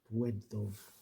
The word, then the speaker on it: Błędów: There's that L with a line through it again, the W sound. Błędów desert.